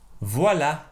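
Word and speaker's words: voilà: you say there is or there are equity voila voila so now let's move on to our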